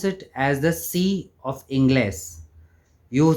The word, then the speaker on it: sí: You say C, how we say A, B, C, it's the exact pronunciation of C. We write it as S-I, C. Just be careful about the tilde when you write the C.